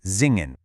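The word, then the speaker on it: singen: right before a vowel, it actually buzzes like an English Z. So, the verb to sing, zingen, is actually pronounced zingen.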